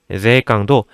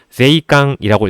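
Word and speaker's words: 税関: 그래서 아까 발음도 사츠에이라고 발음을 하시는 경우 굉장히 많이 있고 세관이라는 뜻의 제이깡도 제이깡이라고 읽으시는 분들을 굉장히 많이 봐요. 입술에 힘을 주는 게 아니라 입모양을 유지시키려고 노력을 해주셔야 됩니다. 제이깡, 사츠에 이런 식으로 연습을 해주셔야 되는 단어들이고요.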